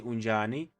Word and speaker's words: Unjani: to continue with your conversation, you can say Unjani, which means how are you? Unjani. This is how you spell it correctly, so you don't sound like you're trying to do something that you don't know.